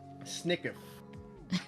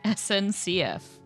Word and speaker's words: SNCF: an official from the French stateowned rail company Snickf. SNCF.